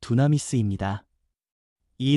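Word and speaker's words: δύναμις: 권능이라는 말은 헬라어 발음으로 두나미스입니다.이 단어는 폭발적인 능력, 생명을 살리고 죄를 끊고 두려움을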